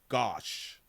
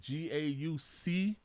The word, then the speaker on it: gauche: I'm smart enough to ask my AI, what is the definition of gosh? Nope. Gosh is not even much how you pronounce it. So it's a G-A-U. I'm trying to do the spelling. G-A-U-C-H-E.